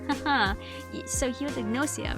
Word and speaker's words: Gnosia: Who is the Gnosia? That's how they say it in the anime, so they do pronounce the G.